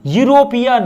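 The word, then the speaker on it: European: क्या आएगा ए आएगा ई मत देखो यूरोपियन यू य यूरोपियन यू य मैच नहीं कर रहा है य आ रहा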